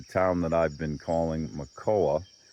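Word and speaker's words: Makoua: that I've been calling Makoa. M A K O U A, but probably should be pronounced closer to Macau.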